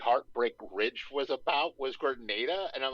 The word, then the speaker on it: Grenada: Well, because it looks like So Granada, but I'm pretty sure it's it is pronounced Grenada.